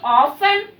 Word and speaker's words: often: Such words are such keywords: every day, every week, every month, every year, daily, regularly, occasionally, often. Here T is silent.